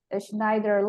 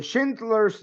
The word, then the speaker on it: Schindler's: I haven't seen in the movie, but I think it's the Schneider List. The Schindler's List. Schindler List, sorry, I don't know Yes, how to the pronounce Schindler's that.